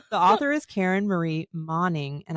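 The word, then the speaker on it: Moning: author is Karen Marie moing and I've been pronouncing her last name like moaning uh and you said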